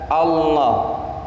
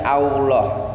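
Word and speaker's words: الله: tenggorokan serta mau loh membaca lafdzul jalalah allah itu yang bergerak itu lidah bukan bukan bibir jadi kita tidak membacanya allah' allah' bukan tapi allah pakai lidah bukan pakai bibir karena huruf lam itu sifatnya tidak digerakkan oleh bibir tapi digerakkan oleh lidah allah' kota mau loh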